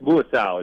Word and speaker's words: Muasau: of an NFL career no yep uh garus muasau is how you pronounce by the way it's that's all right